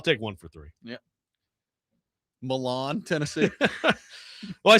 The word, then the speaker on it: Milan: it's Milan.